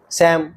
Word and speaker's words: Psalm: इसी प्रकार PSALM में P और L दोनों साइलेंट हैं। सैम।